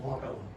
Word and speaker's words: Wapello: that, especially for the Wapello, Iowa branch, which Scott's helped us a lot and been out to Wapello, or Wapello, I guess it's pronounced. Is that how it's pronounced? Wapello. Well, it is Wapello.